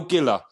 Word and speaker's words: Giller: It's Giller. So Giller is spelled. I'm sure it's underneath, but It Giller is spelled Giller, right? Killer with a G.